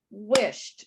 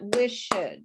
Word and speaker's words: wished: Okay, so you'll notice that the E's are not pronounced. Okay, so it's not wished and it's not talked. It's talked. So it's only one syllable, one clap. Wished, not wished.